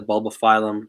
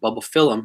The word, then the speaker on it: Bulbophyllum: She posted that, and she talks about how she likes to modify the bulbophyllum. Oh, excuse me, I'm saying it wrong. Bulbophyllum. That's another thing I learned. It's bulbophyllum, not bulbophyllum.